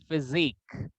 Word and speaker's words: physique: Physique. जो SI है ना वो Z साउंड होगा.